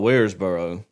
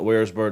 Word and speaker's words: Waresboro: you call it tww I call it waresboro but I've I've made the mistake of calling it wbor to other people and they say